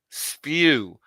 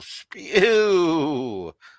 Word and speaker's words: spew: That's how you say it's stank. Spew. SPEW. Spew. So, Frank, you're the one spewing the hate, not me.